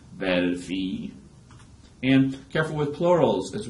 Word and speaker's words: fille: And la fille, the word for daughter, that's y, y, y, y, y sound like yellow.